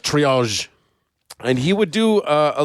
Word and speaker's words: triage: It's pronounced triage.